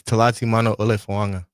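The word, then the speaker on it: Talatimanufoaga: Uh it's Tati Mano Fuanga. Dang. Spell it.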